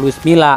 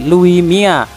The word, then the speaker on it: Luis Milla: tulisannya Louis Milla tapi kalau orang Spanyol itu dibacanya bukan Luis Milla tapi Lui Mia tapi ya sudahlah sama